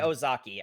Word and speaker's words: Ozaki: bully kid who's actually his name rhymes with hers, doesn't it? It's Oz. It, they're like one letter apart, last It's name wise. So Osaki and presumably, Ozaki.